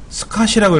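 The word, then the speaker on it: SCSI: 스카시라고 읽어요. 스카시. 콩글리시로 그냥 스카시 방식이라고 읽어드리는데 얘도 마찬가지로 병렬이에요.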